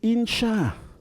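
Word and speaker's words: אִנְשָׁה: Y para formar el femenino hay una etapa intermedia que se dice insha. Desaparece esta vocal E y aparece la vocal I. Y luego la letra nun, con este simbolito que se llama sheva, que dice que entre la nun y la shin no hay una vocal. Insha.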